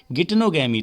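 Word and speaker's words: geitonogamy: बच्चों यहाँ पे जो थर्ड ऑप्शन है जिसे हम जिटेनोगैमी पढ़ रहे हैं उसका एक्चुअल प्रोनाउंसिएशन होता है गिटनोगैमी।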